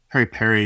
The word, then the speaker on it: PERi-PERi: It's flame grilled chicken that's marinated on the bone in our PERi-PERi sauce, and that's PERi-PERi is the Swahili pronunciation of the bird's eye chili.